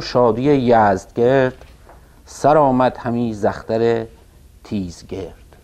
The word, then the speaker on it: یزدگرد: و از آن پس غم و شادی یزدگرد، این فردوسی بعضی جاها یزدگرد رو با کرد و گرد و اینها قافیه کرده، یعنی به نظر میرسه که تلفظش یزدگرد باید باشه. بعضی جاها با گرد کردن و گرد آمدن و اینها قافیه کرده که به نظر میرسه باید یزدگرد تلفظ بشه. به هر حال مثل که حالا یا چیزی بین این دو بوده و یا اینکه هر دو تلفظ درسته.